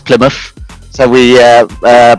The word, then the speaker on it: Plymouth: it's an area called plymouth hence the muff not mouth most people say mouth but it's plymouth so we uh uh